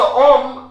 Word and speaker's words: homme: Okay, so om is a word starting with a vowel. Masculine word starting with a vowel. Yes, H mute actually. It's a H mute.